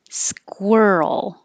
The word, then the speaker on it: squirrel: The vowel is as in her. Squir. You have to round your lips. Squir. Roll up and then touch for the L. Squirrel. And it's that earl combination that shows up in world and girl.